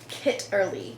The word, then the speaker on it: Kitterly: It's called Kitterly, kind of like knit early, but it's spelled Kitterly.